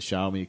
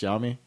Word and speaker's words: Xiaomi: different parts from the xiaomi company which by the way it's pronounced xiaomi that is a chinese word xiao is pronounced xiao the x is like an sy mi is pronounced me so it's xiaomi for